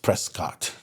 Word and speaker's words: Prescott: And so, um, which, by the way, if you look at the spelling of Prescuit for your It's Prescott. Just don't ever say it sounds like biscuit.